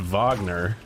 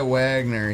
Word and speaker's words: Wagner: He was I think it's pronounced Vagner. Oh yeah, you're right. Honest Vagner. No, I think he went by Wagner.